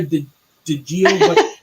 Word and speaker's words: DiGiovacchino: Her name is DiGiovacchino.